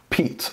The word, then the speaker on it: Piet: this is a crkt peat I know it's not spelled oddly there p-i-e-t but it's pronounced Pete this is a Jasper